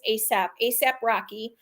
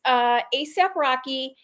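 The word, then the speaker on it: A$AP Rocky: So this ASAP, except one of the S's is the dollar sign. So I had to look up how to say it, but it's ASAP Rocky.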